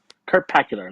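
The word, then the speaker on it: Kurtpacular: Kurt Pacular. There you go. That's how you say it. That sounds Kurt Pacular to me. Like spectacular, but with Kurt.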